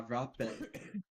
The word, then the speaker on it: rape: For the record, the anglerfish in Spanish is spelled with only a single R, but is pronounced with two R's.